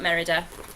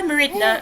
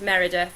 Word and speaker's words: Merida: And then finally I've got Merida, which I pronounced right. I keep trying to call her Meridna, and I know that's not right. It's Merida. So Merida from Brave.